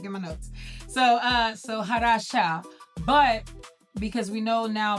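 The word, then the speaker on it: חדשה: So, uh so, Hadasha, but because we know now about the c, we can drop that c and it would be as it is exactly pronounced, which is Hadasha.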